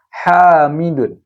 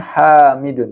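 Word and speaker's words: حامدٌ: Hamidun. Oke, bacanya Hamidun, bukan Hamidu ya.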